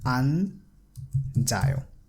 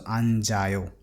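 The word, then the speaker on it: 앉아요: So we will pronounce it as anjayo. So you see that this chiyat has combined with a and is being pronounced as ja because it's in the middle position. If you remember the Hangul pronunciation rule that we have studied, it's ja, so anjayo.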